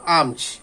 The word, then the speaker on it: alms: ALMS এর উচ্চারণটা হলো আমচ।